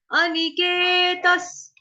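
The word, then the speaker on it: अनिकेतः: अनिकेतस, स जो है क्यों आया विसर्ग को उच्चारण स से क्यों किया, क्योंकि आगे स है ना, स्थिर मतिर, स्थिर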